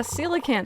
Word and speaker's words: coelacanth: I got a coelacanth.